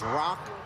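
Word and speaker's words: ろく: 61 in Japanese that's Rock to itch the number six is rock and the number one is pronounced itch one two and the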